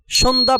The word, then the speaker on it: সন্ধ্যা: জফলার উচ্চারণ হচ্ছে না সন্ধ্যা বানানে দন্তন্য দ এর সাথে তৃতীয় বর্ণ হিসেবে জফলা যুক্ত হওয়ায় জফলার উচ্চারণ হচ্ছে না এবার তোমাদের জন্য থাকছে